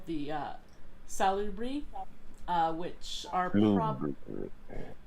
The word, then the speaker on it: Salubri: There is a clan that is called the Salubri, which are how do you pronounce it? Oh, forgive me. I just like saying the word salubric.